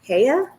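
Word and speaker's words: Heye: the brand it's h-e-y-e it's a german brand so i think you pronounce it heya i think that's the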